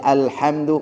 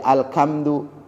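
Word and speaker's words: الحمد: Seperti alhamdu malah jadi alkamdu.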